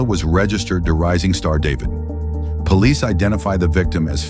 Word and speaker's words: D4vd: The car, which was a Tesla that belonged to a singer and Queens native who goes by the name David, spelled with A4.